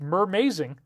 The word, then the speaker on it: Mermazing: It's pronounced mermazing, like amazing except mermaid.